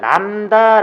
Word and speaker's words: 람다: 신앙의 나오는데 f 다시 진동수 프리퀀시 그리스 잘 남 다 라고 읽어요 나옵니다 람다 는 빛의 파장을 얘기를 한다 관련된 용어 그리고